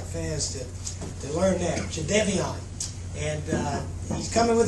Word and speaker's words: Jadeveon: Obviously, we got some wonderful news this morning when Jade Devon Clowny and that's the way it's pronounced, Jade Devian.